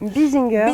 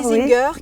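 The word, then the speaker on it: Bissinger: autre anecdote ça concerne la famille bessenger comme ça on prononce comme ça Binger Binger qui est une une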